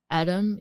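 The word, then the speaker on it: Edam: like how do you say it in English Adam e D- a m i don't even know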